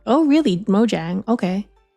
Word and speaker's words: Mojang: they pronounce it with J not oh really Mojang okay pronounced like a Singaporean I I don't know